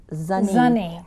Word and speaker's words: Zunny: Well, first of all, let me just say my name, which many people look at because of that ZS, and they say ZSun-nee, but it's ZSun-nee. And but I'll answer to